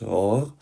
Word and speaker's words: hors: Now, on the fourth remark, hors, pronounced hors, means out of, away from.